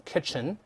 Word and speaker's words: kitchen: 厨房咱们看的就用 kitchen，注意这个 t 中间这个 t 是不发音的啊。